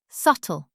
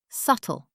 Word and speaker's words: subtle: Subtle. Six letters. Subtle. The B is silent.